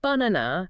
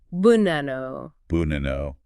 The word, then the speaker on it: banana: you mean an example the word banana okay banana it's not banana it's more like Bano buano okay yeah recognizing the